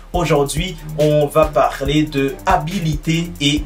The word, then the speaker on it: habilité: À ne surtout pas confondre la prononciation de ces deux mots, habilité et habileté.